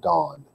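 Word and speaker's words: Dan: say da in it's not pronounced and it's pronounced dawn he added the inscription this is your god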